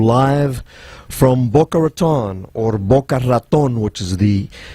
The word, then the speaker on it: Boca Raton: We're coming to you live from Boca Raton, or Boca Raton, which is the correct pronunciation.